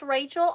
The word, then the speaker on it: Rachel: Oh, it's pronounced Rachel. I apologize. I apologize. I thought it was Rochelle, and that is my apologies.